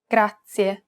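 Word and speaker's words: grazie: This word uses the rolled R sound. Gracia.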